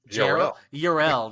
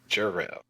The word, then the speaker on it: Jarrell: Urel, that's right, Urel. Chandler Urel. Why do you keep pronouncing my name wrong? You know there's a J in it, right? Chandler Jarrell.